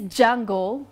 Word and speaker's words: D'Jungle: His name is Jungle, but you don't spell it as you pronounce it.